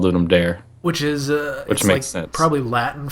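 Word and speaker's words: Ludum Dare: same way like yeah I think it's supposed to be ludum Dar um but I think most of the time it's just called Lum dare which is uh probably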